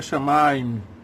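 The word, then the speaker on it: שמים: Aí eu quero esclarecer que no hebraico a palavra céus é shamaim. Poderia ser shamaim, mas a pronúncia hebraica é shamaim.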